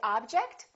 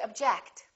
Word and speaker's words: object: one do we say object or do we say object again it depends on if it's a verb or a noun object is a noun